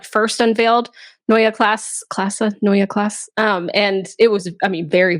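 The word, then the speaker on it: Neue Klasse: You had also been to BMW for the Noya Classa X.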